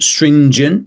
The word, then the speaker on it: stringent: this next one stringent specifically the G you also hear a weakening The Vow sound at the end jent instead of gent or gent some people use hard G shouldn't be a hard G particul particul we got